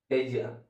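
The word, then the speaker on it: ella: मतलब जो सी सब्जेक्टिव है उसके लिए स्पिनिश में एज या ई डबल एल ए और डबल एल को स्पिनिश में ज प्रोनाउंस करते हैं।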